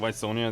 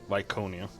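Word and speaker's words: Viconia: is this timing also I've been saying V Sonia the entire time but her name is uh vonia that's how you actually pronounce it apparently there's some NPC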